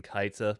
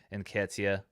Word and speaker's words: Nketiah: of Arsenal's striker today, Nketiah. Nketiah. Okay, well, thank you for trying. Nketiah is the name of Arsenal's striker. I think I've been saying Nkaita, perhaps. Nketiah. Sure, I'll take it. Nketiah sounds good.